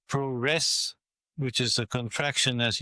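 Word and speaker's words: プロレス: mean they saw the word puresu which is pronounced proess which is a contraction as you said of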